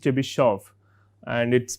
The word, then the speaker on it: Chebyshev: I believe it is pronounced Chebyshev and it is pronounced with a T, Z and so on, right.